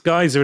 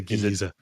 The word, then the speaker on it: geyser: It's geyser in American pronunciation, isn't it? Yes. Yeah. I say geezer. Is it different?